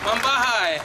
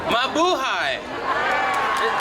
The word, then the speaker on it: Mabuhay: Mambahay, how is everyone today? Nice to see you. Mabuhay. Is the pronunciation better?